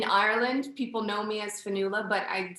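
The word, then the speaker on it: Fionnghuala: came up in ireland people know me as fanula but i'd say mostly in the states people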